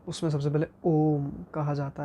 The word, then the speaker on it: ओम: तो उसमें सबसे पहले ओम कहा जाता है। ओम को अगर मैं अल्फ़ाबेटिकली कहूँ तो AUM, इट्स नॉट ONM, इट्स AUM।